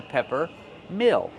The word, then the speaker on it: pepper mill: pronounce it Pepper Mill so pepper use a short s s like head and red P pepper this is a pepper mill Mill use a short I sound like this is M Mill plus the dark L this is a Pepper